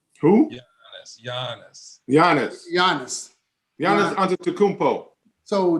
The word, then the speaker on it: Giannis: last night how do you say his name guinness who yeah giannis giannis giannis be honest so didn't he break